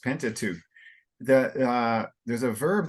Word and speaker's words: Pentateuch: simply about Moses of of authorship in the thin tattoo very well pronounced pentateuch the uh there's a verb that's in you